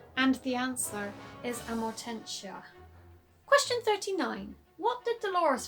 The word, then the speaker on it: Amortentia: I usually say Amormentia for some reason, but the correct pronunciation and the answer is Amortentia.